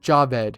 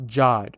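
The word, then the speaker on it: Jawed: and was posted on April 23rd 2005 by Javed who's the co-founder of YouTube and yes it's pronounced Javed not jod in the video it shows Javid at the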